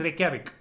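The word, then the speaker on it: Reykjavík: It is written with a lot of K's and J's and V's, but the pronunciation is Reykjavik.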